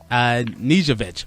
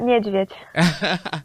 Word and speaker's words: Nieszwiedz: We have Invicta Star uh uh Nijovich, which I'm going to need your help. An uh, how do you say your name properly? It's Nvich.